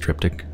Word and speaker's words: triptych: the triptych begins I don't know that's actually pronounced triptych okay shopping how many tapes are there I'm